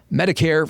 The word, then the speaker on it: Medicare: And I had to remember that Medicare rhymes with hair, as in white hair, because Medicare is for the elderly.